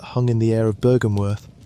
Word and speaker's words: Byrgenwerth: Its name is Byrgenwerth, which you may say it Byr-gen-werth, and it is here that the modern part of our story truly begins.